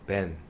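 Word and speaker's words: בן: 히브리어에서는요, 돌이라는 단어가 에벤이라는 발음으로 표현합니다. 돌이라는 단어가 에벤이에요. 그리고 아들이라는 단어가 벤입니다. 벤.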